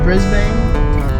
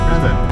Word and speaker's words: Brisbane: And we off to Brisbane.